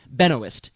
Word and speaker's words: Benoist: I love the pronunciation of this name. I hope it's real. Benoist. You said that and I love that. I think you did. I said Benois. You said you said Benowist or one of you did.